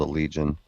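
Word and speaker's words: Allegaeon: Well, anyway, the band is called the Legion, and it's spelled Allegeaeon.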